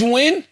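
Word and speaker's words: Nguyen: N G U Y E N Wynn is the closest, yeah. George Wynn.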